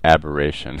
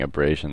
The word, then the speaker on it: aberration: no chromatic aberration and i pronounced this incorrectly in the last video so let me take this chance to say it's chromatic aberration and i'm so used to saying abrasion that i can't get